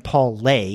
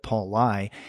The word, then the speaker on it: Paul Lai: people all the time, calling him Paul Lay instead of Paul Lai.